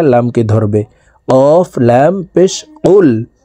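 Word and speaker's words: قُلْ: কফ লাম পেশ কুল কফ হরফ জিহ্বার গোড়া তার বরাবর উপরের তালুর সঙ্গে লাগাইয়া উচ্চারণ করে পড়তে হবে এই কফ জজমালা লামকে ধরবে কফ লাম পেশ কুল হা পেশ হু ওয়াও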